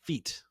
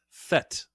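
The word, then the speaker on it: fête: It's not feat. It is fet, which is the French word for party.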